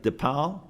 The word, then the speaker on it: Depal: soon yeah okay uh am am I pronouncing this right depal yes that was perfect hello everyone uh for